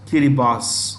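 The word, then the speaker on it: Kiribati: year boss in their local Basha it is pronounced kiribas foreign hemispheres northern northern this is also in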